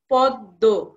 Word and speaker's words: পদ্ম: মটা উচ্চারিত হবে না যেমন পদ্ম দ এর সঙ্গে মন্ এখানে উচ্চারিত হচ্ছে না বরঞ্চ কি হচ্ছে দটায় দুবার উচ্চারিত হচ্ছে পদ্ম তেমনি আছে রশ্মি এখানে